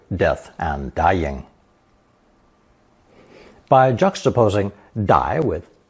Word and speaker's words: 歹: As you can see, these are actually two different characters, one pronounced fourth tone 'ugh', an element that never appears alone, and another pronounced third tone 歹, 歹.